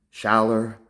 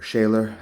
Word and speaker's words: Schaller: see we've got the German shower or Schaller and there never say it right we've got the